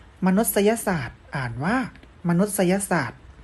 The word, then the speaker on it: มนุษยศาสตร์: รัฐ ประวัติศาสตร์ อ่าน ว่า ประวัติศาสตร์ มนุษยศาสตร์ อ่าน ว่า มนุษยศาสตร์ ที่ นี่ นัก เรียน มา ดูลักษณะ สุด ท้าย